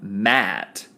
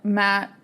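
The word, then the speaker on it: Ma'at: led to this and it's called um Matt which is like it's spelled m a apostrophe a m a apostrophe a Matt mat yeah Matt at uh-huh and like it's strict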